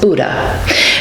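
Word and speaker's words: BHDDH: Bureaucrats pronounce the initials as Buddha.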